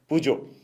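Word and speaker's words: Peugeot: आपको पता है एक और कंपनी है पूजो, जिसकी जिसकी प्रोनाउंसिएशन अदरवाइज़ बड़ी मुश्किल है कि मतलब अगर आप उसको करें तो कोई पिगट पड़ता है, कोई क्या पड़ता है, लेकिन असल उसकी प्रोनाउंसिएशन है पूजो।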